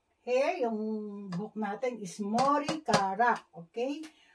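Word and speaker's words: 머리카락: Hair, hair, yung book natin is Mori Kara. Okay? Mori Kara.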